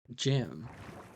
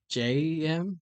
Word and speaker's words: Gem: Gem. We're talking about GEM, Gemini Tay, not JEM.